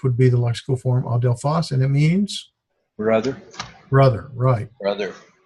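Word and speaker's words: ἀδελφός: Adelphos. Adelphos. Phos, yes. Adelphos or Adelphos. I think either way works.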